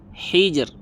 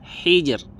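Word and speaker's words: حِجْر: sukun yang gara-gara wakaf apabila sebelumnya berh harakat ee kasrah maka r-nya dibaca tipis contohnya khobir Hijr Hijr tipis khobir Hijr tiib paham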